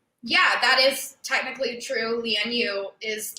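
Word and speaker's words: Lian Yu: me amy um it is they call it leon you micah you're not going to believe this that's not the correct way to pronounce it oh my gosh it's lien you so land u is supposed to mean um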